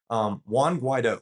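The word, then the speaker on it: Juan Guaidó: Guaido, and I had to make sure I pronounced that right. Juan Guaido.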